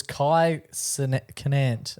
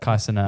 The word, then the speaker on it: Kai Cenat: It was Kai Canant. How do you say that? Kai Cenat.